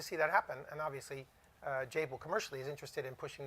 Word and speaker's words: Jabil: And I think one of the things at Jabil, what we're committed, Jabil rhymes with enable, right?